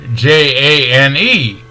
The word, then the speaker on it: Jane: If we have the word J-A-N-E, the E reaches around and taps the A, and then the J-A-N-E is pronounced Jane. Jane, because the A had to say its name and the E didn't have to say anything at all.